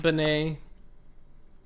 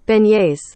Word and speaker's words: beignet: I don't even know what a bonnet is, and I'm assuming it's pronounced bonnet.